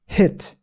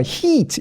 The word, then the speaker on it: heat: 길이도 다르지만 소리도 달라요. hit, heat, hit, heat. 들려요? 들리세요? 차이가 들리면 들린다고 적어주세요. 여러분들의 피드백이 필요합니다. 몇 번 더 할게요. 여러분들 적어주시는 동안 몇 번 할게요. hit, heat, hit, heat. 입 모양이 달라요. 맞아요. 포인트는 입 모양이 다를 수밖에 없는 게 장모음 이 같은 경우에는요. 이거 죄송해요. 큰 화면으로 몇 번 더 할게요. 장모음 이 같은 경우에는요. heat. 이 벌릴 수밖에 없어요. 옆으로 찢어질 수밖에 없어요.